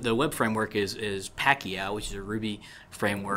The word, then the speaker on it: Pakyow: you know have a strong preference are there Pacquiao is my preference but some people talked about